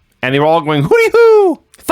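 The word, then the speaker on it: Hoody Hoo: a d okay so it's not hoot like an owl it's Hood like a hoodie like in the hood hoodie who okay but they pronounce it hoody who so according to Wikipedia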